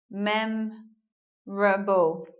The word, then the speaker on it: memorable: in British English and looking lastly at this word memorable memorable we're not hearing an O here mem Rubble so goodbye oh and then we make